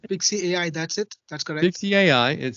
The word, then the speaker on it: Pixci: uh it's called I don't know how to pronounce it is it pixie pixie AI is that you saying pixie AI That's it 6ix AI it says let AI